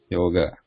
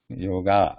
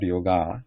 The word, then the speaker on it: yoga: Yoga. It's not like father. Yoga. It's not yoga, but yoga.